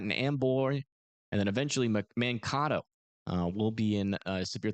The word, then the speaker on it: Mankato: Mankato. Gotcha. It rhymes with tornado.